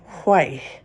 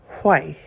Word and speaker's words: Hue: We're at the Silk Path Grand Hotel in Hay, spelled H U E, but pronounced Hay.